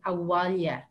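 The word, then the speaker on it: abhaile: we say go home that word is awalia it's like think of the walls in the house oh well yeah so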